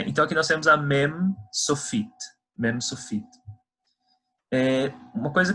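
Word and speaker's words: מם: relação a essa letra, quando a gente pronuncia ela no final de uma palavra, é que a gente sempre tem que fechar a boca. Então, por exemplo, mem, mem, não é men e nem men, é mem.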